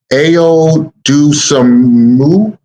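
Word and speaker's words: Ayo Dosunmu: mike conley clone and i'm gonna say his name wrong and i apologize ayo dusamu a-y-o-d-o-s-u-n-m-u point guard from illinois i thought this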